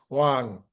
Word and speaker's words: Wang: I'm just highly recommending very, very good program with Brian Wong last night. And uh I just pronounced his name Wong again. It's Wang. It's really hard. We don't have that vowel in the English language.